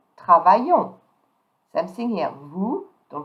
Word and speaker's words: travaillons: Now for the new form, we, the S here don't pronounce, and the S at the end don't pronounce. I will say nous travaillons.